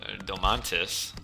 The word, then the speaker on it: Domantas: me on the uh the pronunciation of domantis uh but we'll say it all i want it should be on the second syllable the accent i do believe so